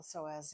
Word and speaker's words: psoas: The psoas is a deep flexor muscles that crosses the pelvic joint to the leg from the spine.